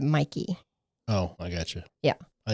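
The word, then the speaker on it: Mäki: It's So it's spelled M A K I, but everybody pronounces it Mikey.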